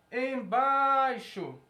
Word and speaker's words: embaixo: Quando a gente vai a palavra embaixo, a única sílaba tônica que a gente vê aqui é bai.